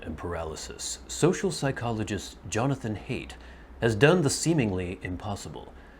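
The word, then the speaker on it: Haidt: religion by jonathan hate i think you say hate i think the d is silent um this is another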